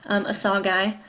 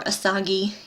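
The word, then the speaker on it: Asagai: And then, of course, Benitha has some friends, Asagi, or Asagi. You'll hear it pronounced both ways.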